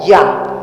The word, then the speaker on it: Yah: es y H vh este nombre puede ser abreviado como yh que se pronuncia como ya ya por eso es